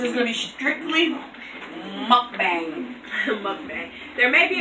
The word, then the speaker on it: mukbang: on my mom well the proper way to say is a mukbang we're country five well